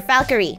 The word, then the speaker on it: Falkyrie: Falkyrie. Like Valkyrie, but it's a falcon, so it's a Falkyrie.